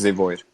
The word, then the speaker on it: ZeVoid: Did I pronounce that Yes, correctly? that's Yeah, right. It's ZeVoid.